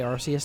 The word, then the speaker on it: Arus: Uh, and I will say Arus, not Archus. I don't give a People are saying Archus. Yes, cuz that is how entire ass. Thank you. That is how they say it in the show.